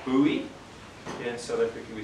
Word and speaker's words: Bowie: you want to be if you want to pronounce it properly overseas it's Bowie or buoy yeah South Africa we say Boe and they kind of